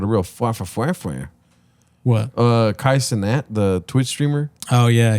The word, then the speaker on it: Cenat: Kai Cenat. Is that how you say it? Yeah, Kai Cenat. So I thought it was Senate.